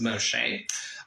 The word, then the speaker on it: Moisant: And you can check out my personal Facebook profile on Facebook as Moisant, which is pronounced Moshe, on Facebook, and there